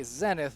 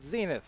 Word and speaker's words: Zenith: punna Balaam's see well I'm gonna say zennith but it occurred to me I'm probably should be pronouncing it Zenith yeah but in any